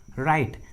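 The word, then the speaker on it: write: के पहले होता है, जब भी किसी इंग्लिश वर्ड्स के एकदम शुरू में डब्ल्यू जो है वो आर के पहले होता है तो डब्ल्यू साइलेंट होता है, डब्ल्यू का उच्चारण नहीं करते।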